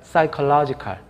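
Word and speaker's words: psychological: 그래서 피지컬로지컬이 아니라 사이컬로지컬. 맨 앞에 피가 이제 묵음으로 처리가 되는 것이죠.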